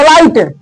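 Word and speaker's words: light: नाइट अब देखो तो लाइट इसमें भी है अब ये क्या है एल आई जी एच टी लाइट आई के बाद जी एच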